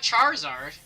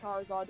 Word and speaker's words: Charizard: this thing that's a fire lizard how about Charizard have you seen do you know True Green